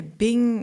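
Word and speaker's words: 病: Yeah, Bing is how it's said in Chinese, original Chinese text.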